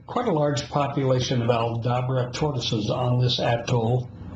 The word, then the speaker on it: Aldabra: Is it Aldabra? Is that the correct pronunciation?